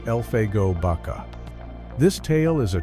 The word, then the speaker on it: Elfego: It involves a law man who was a close friend of Wyatt Herp, a man by the name of Elfeo Baka, pronounced Elfgo Baka.